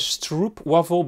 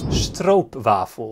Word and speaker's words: stroopwafel: Also, he says stroopwafel, but the pronunciation here in Dutch, if I'm gonna be a nitpicker, is stroopwafel.